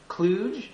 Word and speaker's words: kluge: which I also have and recommend it's called Cluj am i pronouncing that correctly Gary that's right clue rhymes